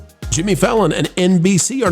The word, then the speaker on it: Fallon: Variety has this one by Jack Dunn about Jimmy Fallon, I believe they pronounce it. Yeah, that's right. Fallon, or is it Fajon? Fallon. Jimmy Fallon, it's Fallon, plans to keep my head down and avoid politics on The Tonight Show.